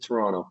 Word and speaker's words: Toronto: So it took me a while to learn that, but you pronounce it Toronto.